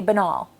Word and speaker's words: banal: My theory is that banal, saying it that way, it has anal in it, and people don't want to embarrass themselves, so they try to sound fancier and say banal.